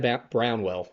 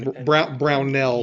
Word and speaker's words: Brownell: And man, I think you said Brownwell. If I'm Brownell. Yeah, Brownell.